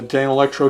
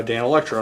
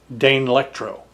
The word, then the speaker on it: Danelectro: by uh Dan Electro now if you ask how to pronounce Dan Electro if you ask the internet how to pronounce it then the thing that pops up says Dane Electro it it treats the first four letters like it's sounding Out the word Dane and so it will actually tell you to pronounce it Dane Electro um if you look